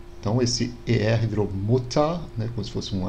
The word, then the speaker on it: Mutter: No alemão mais atual, seria como se fosse um A mais fraco. Então a gente tem Feuer, Feuerfrei, Spieluhr, Mutter. Então esse ER virou Mutter, né, como se fosse um A.